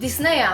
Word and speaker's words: Disney: czytać mniej więcej "Ajern" Pytam Jak wymawiasz "Disney" Mówisz, że oglądałaś bajki "Disney'a" -(wymówione po angielsku) Nie wiem, ale ja mówię "Disneja " Dlatego, że to jest spolszczone I dobrze to funkcjonuje w użytkowym języku Sorry, ale dla mnie